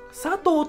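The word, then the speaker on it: 佐藤: 比方说，佐藤、佐藤と読みます。佐藤と読みます。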